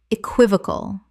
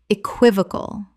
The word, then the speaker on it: equivocal: Common mispronunciation. Equivocal. Correct pronunciation. Equivocal. 4 syllables with the stress on the second, meaning open to 2 interpretations.